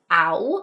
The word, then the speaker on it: Au: Then we also have 'au' (ow) Right. So 'au' says 'ow'; that's also literally how they say 'Au!' as in 'ouch'.